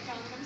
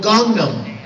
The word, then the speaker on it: Gangnam: Do you know what Gangnam Style is?